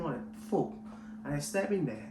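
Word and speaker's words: Phuc: no no no no it doesn't sound like that this doesn't pronounce it yet it's actually full like food and i just tell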